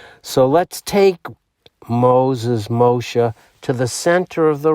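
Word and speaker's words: Moshe: 22l alphabet in Hebrew the S the shin can be pronounced as an s or an sh so let's take Moses mosha to the center of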